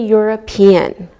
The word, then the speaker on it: European: like a wise sound same with a European we don't pronounce we pronounce the e and it sounds like a why okay let's look at